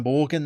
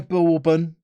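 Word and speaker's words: Borgen: Just summoning my inner Borgon there. Not my inner Bourbon. No, not the biscuit. Borgon. Great Danish TV series.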